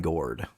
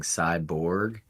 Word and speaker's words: Cygourd: Southern Star brewing companies cord I'm glad that you pronounced that correctly because I've been saying Cyborg and that mean makes no sense considering this is a